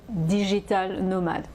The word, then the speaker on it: digital nomade: plus en plus de digital nomade c'est comme ça qu'on les appelle c'est un nom anglais mais on prononce à la française il y à de